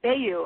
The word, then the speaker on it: Bellew: know the fighter, but I always want to call him Bellew, and I don't think that's right. How do you pronounce it? Bellew is right. You were correct the first time.